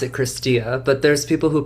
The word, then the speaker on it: Cristea: It's we pronounce it Cristia, but there's people who pronounce it Cristi, Cristea, many different versions of how you can pronounce the name, but in Romanian we pronounce it Cristia, so Cristia.